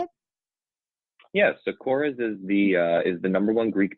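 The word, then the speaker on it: Korres: Is it Kores? Is that how they say it? Yes. So Kores is the number one Greek beauty brand.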